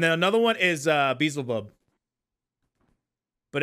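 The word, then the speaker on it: Beelzebub: bezelbub but it's not easy yeah I'd say beezle bub well I call it bubs I call them bubs now but uh like beezle bub and uh uh it's actually like pronounced that BL zebub it's pronounce b aliceabob yeah I just thought the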